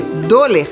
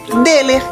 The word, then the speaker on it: Döhler: tenho trema atenção dinheiro então a gente lê do ler mas a pronúncia correta é dele como é dele ser sair se você quer